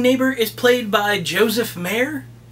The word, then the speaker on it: Maher: This cat-hating neighbor is played by Joseph Maher. Maher. M-A-H-E-R. It's pronounced both ways, so I'm not sure how he did.